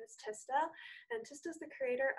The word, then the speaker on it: Tista: My name's pronounced Tista.